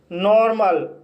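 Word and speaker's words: normal: नॉर्मल, नॉर्मल शब्द के अंत में ए एल आया है और यहाँ पर ए का उच्चारण आ हुआ है, इसलिए इसे नॉर्मल पढ़ा जाता है।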